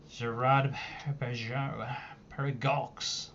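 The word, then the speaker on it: Girard-Perregaux: Gerard Paragox. That's the correct pronunciation for it. Zerod Parag.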